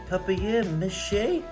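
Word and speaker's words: papier-mâché: It is pronounced papier mache.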